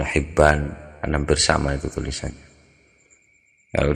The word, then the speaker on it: Hibban: Atau bacanya kalau Ibnu Hibban jelas bacanya Ibnu Hibban, hampir sama itu tulisannya.